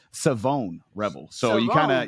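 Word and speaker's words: Shavon: Uh, and he specifically said it's not Siobhan, it's Savone Rebel. So, you kind of you kind of take out the H. Yeah, you kind of take out the H and emphasize the O. So, it's Savone Rebel is kind of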